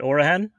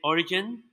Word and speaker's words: Origen: rosters and or uh how did you pronounce that orahan origen or most people right here with united states says origin origin but origin yeah yeah so you have orahan coffee roasters but i want to